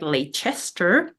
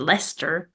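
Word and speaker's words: Leicester: take a train to nearby town which looked like it should be read like L Chester but obviously is read Lester who would have known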